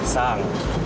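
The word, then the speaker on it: xang: C'est X-A-N-G. Sang. Le X on prononce comme S. Sang.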